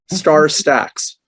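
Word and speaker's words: StarStaX: likely use so start where you say star star stacks and stats is spelled with an x at the end okay star stacks star stacks okay it's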